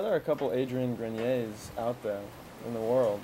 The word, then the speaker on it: Grenier: are a couple adrian grenier's out there in the world so maybe there's another really yeah a different spelling or something but you pronounce yours grenier the french pronunciation and melissa sabrina is